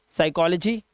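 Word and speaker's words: psychology: कि नहीं होता देखो ध्यान से कह रहा है एस से पहले आएगा तो प साइलेंट होगा अब इंग्लिश के कई ऐसे वर्ड्स है जिसमें एस से पहले पी आता है और हमारा पी साइलेंट होता है जैसे साइकोल ठीक है साइकोलॉजी साइकेट्रिस्ट और साइकोथेरेपी इसमें सब में देख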